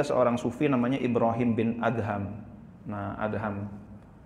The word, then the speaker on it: Adham: Ada yang membaca Ibrahim bin Adom karena DH dianggapnya dhad gitu. Ibrahim bin Adam, idom Khalid gitu ya. Gara-garanya dhama = D gitu. Jadi setiap yang dha dibacanya D sama dia. Ibrahim bin Adam. Nah, inilah kadang-kadang ee enggak membedakan antara A dengan O itu bahayanya di situ tuh. Ee jadi Ibrahim bin Adham.